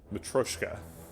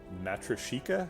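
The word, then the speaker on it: matryoshka: the big test um i saw somebody else pronouncing this on the stream i practiced it uh matroshka with all right um it sounds way more russian but uh than um matrashika which i was saying before good god oof um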